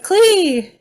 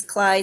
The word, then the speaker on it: Klee: you're a natural klee okay sorry i've been mispronouncing your name it's cly sorry i know i've